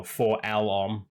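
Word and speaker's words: 4-LOM: forlam and zuckus or for Elon should I say no 4L arm or Elon that's how you pronounce it um but I I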